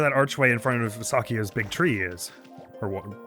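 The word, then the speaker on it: Sakuya: Shakuya. No, it's Sakia, but...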